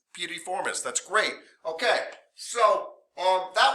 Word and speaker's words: piriformis: It's piriformis.